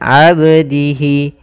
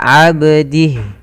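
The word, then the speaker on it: عَبْدِهِ: Abdihi ada huruf ba yang dia berharakat sukun, maka kita hukum tajwidnya kita hukumi dengan qalqalah. Qalqalah yaitu bacaan memantul dalam pelafalan hurufnya, maka tidak dibaca abdihi tapi dia ada pantulan dalam huruf ba-nya, abdihi.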